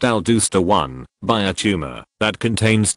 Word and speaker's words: aldosterone: production of the hormone aldosterone pronounced al dooster won by a tumor that